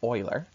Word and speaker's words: Euler: Euler's theorem, I know it looks like Euler, but it's pronounced Euler.